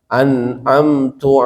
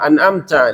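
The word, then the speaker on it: أنعمت: makmum wajib membetulkan mengkoreksi misalnya imam tadi anamtu alaihim Imam harus maum bilang anamta alaihim dibetulkan anamta alaihim dan Imam kalau menyadari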